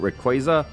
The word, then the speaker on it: Rayquaza: telling us to recruit Rayquaza. I actually never learned how to pronounce it. I say Rayquaza. Like Quasar.